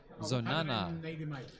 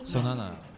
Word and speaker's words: Zonana: How do we pronounce that last name? Zonana. Oh, okay. So did you fly in? Zonana.